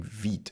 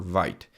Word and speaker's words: Vite: But yeah, that's basically how you generate your application using Veet or Vyte.